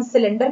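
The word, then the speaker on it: cylinder: होती है उसे हम सिलेंडर कहते हैं और इसे हम सा से पढ़ते हैं, सी को यहाँ हम सा पढ़ रहे हैं।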